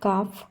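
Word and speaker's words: calf: সি এ এল এফ কাফ এখানে আগেই বলেছি এল এর উচ্চারণ হবে না যেহেতু এল এর আগে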